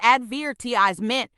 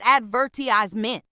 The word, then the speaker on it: advertisement: about the word advertisement in the UK it's ADV TI me but in the US it's advertizement see what I did there the stress on different syllables changes the whole sound it's like magic right